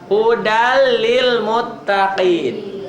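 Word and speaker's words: هدى للمتقين: Hudal lil muttaqin. Tuh, hudan jadi hudal. Hudal lil muttaqin. Tulisan dan bacaan berbeda. Tulisannya hudan. Hudan lil muttaqin. Dibacanya jadi hudal lil muttaqin.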